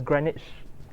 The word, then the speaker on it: Greenwich: I believe it's spelled like Greenwich, but it's pronounced as Greenwich. Yeah, if you ask a person from British person, he will say Greenwich.